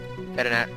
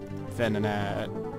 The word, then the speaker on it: Venonat: Vedinat. Don't you guys say it like there's a T in the middle of it. Vedinat. Vedinat. Venonat.